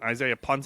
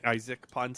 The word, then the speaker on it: Isaac Punts: Isaiah Punts isn't telling us anything. Isaac Punts, sorry. I always have that guy's name wrong in my head. He's on YouTube.